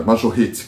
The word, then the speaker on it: Majorette: Eu tô aprendendo a falar o nome da Majorette certo, é Majorette, que eu aprendi essa semana, mas eu vou melhorar a minha pronúncia.